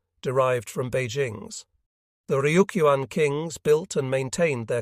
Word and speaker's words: Ryukyu: The Luchu Islands, Chinese for the characters pronounced Ryukyu in Japanese, were officially recognized as a client state of the Chinese Empire.